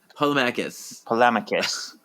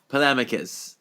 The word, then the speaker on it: Polemacchus: Polemacchus. Polemacchus.